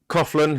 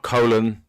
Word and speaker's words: Coughlin: of a wally now so coughlin it's not colon coughlin is it is it